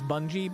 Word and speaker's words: Bungie: uh have fun uh does anyone pronounce bungy like the bung cord I do I do it as a joke I know it's Bungie but I say bungy I usually say bungy